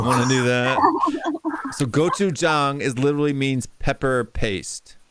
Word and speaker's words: gochujang: I love this thing called goat chain, something like that.